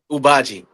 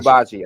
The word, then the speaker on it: Ubaji: Can you tell me again what's it called? I don't want to get the name wrong. Ubaji. Uaji. Ubaji. Okay.